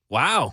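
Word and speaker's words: Wu: loves the holidays who actually it's pronounced woo mayor Michelle woo out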